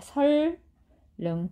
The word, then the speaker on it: 선릉: 자, 그래서 예를 보면 선릉 하면 어떻게 돼요? 니은, 리을이 만났죠? 그러면 리을, 리을로 변합니다. 설릉 이렇게 발음을 하셔야 된다는 거예요.